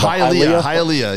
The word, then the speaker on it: Hialeah: yeah and halia halea I might get beat up on the pronunciation Hialeah yeah Hailey is how the Gringos say it um it's true wherever